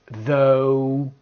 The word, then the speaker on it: though: And finally, the O sound, O. We've got though, although, even though, O.